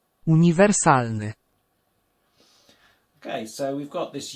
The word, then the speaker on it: uniwersalny: And then you've got the I, and the I is like in ski, so it's the E sound. Okay, and of course, just remembering where to stress the word on that penultimate syllable.